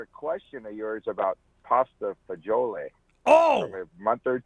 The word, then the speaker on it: pasta fagioli: in an Italian restaurant, should I say it the Dean Martin way, pasta fazool, or that other way? I would say pasta fagioli.